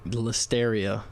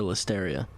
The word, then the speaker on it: listeria: And both of them just got shut down because they had listeria contaminations. Listeria? Deadass, I didn't even know what listeria was. Listen, if it rhymes with hysteria, I'm suing you.